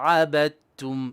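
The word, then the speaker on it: عَبَدْتُمْ: Abidum ma abadtum. And here we have a dal before a ta. When we have a dal before a ta, the dal goes silent.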